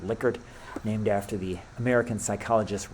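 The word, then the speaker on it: Likert: these that's a Licor scale some people say lker but it's actually pronounced liquer named after the American psychologist rensis liquer how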